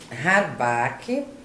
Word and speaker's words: Harmbach: escrito aqui na pauta mas eu não sei pronunciar de direito fala para gente Samantha de Fátima rabake Lourenço a barra super que alemão é alemão